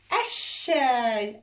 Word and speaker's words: الشاي: كلمة الشاي، هذه الشاي، لا هي الشاي، أيضا تكتب اللام ولا تلفظ، وتضع شد الشاي، السنجاب، الشاي، السنجاب.